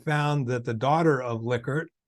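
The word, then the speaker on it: Likert: my presentations said will I'm pretty sure it's liquor I said no way and um so then I did some investigative work and uh I found that the daughter of liquor says it's liquor and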